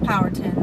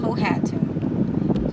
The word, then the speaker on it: Powhatan: Chief Powhatan, his name is pronounced Powhatan, not Powhatan.